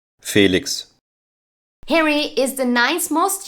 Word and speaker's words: Felix: in European countries and the German pronunciation for it is like this Felix Harry is the ninth